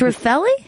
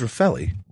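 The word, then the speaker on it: Refaeli: her name bar rafelli it's rafaeli I thought it was rafelli I never know how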